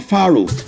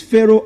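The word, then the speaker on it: Faroe: Now for the F A R O E is not Faroh. It is Pharaoh Island. The name of that country is Pharaoh Island, not Pharaoh Eastland or Pharaoh Iceland. It's Pharaoh.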